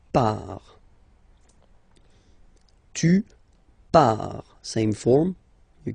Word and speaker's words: pars: So final S not pronounced, je pars.